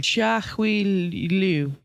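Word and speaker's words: Liu Chia-hui: the Crazy 88s, that's babe, how would you pronounce that? Chia Hui Liu.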